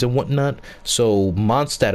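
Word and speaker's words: Mondstadt: names and whatnot so monstat apparently is pronounced monstart if you were to say like in german but you know in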